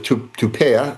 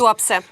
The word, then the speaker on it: Tuapse: out like they just hit the port of Tupea, I believe it's pronounced. Tuapse.